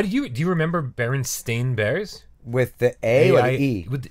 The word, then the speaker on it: Berenstain: nice art was spelled Berenstain I would have pronounced it Berenstain yeah but my entire life I've been saying Berenstein bears yeah bite Stan and Jan Berenstain yeah